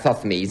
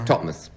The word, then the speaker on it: Thothmes: Just like Thothmes, it's Totmes.